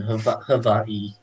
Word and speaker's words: Hawaii: Let's see the sales tax in Hawaii and Hawaii. That's what it is. Um, that is actually the proper pronunciation.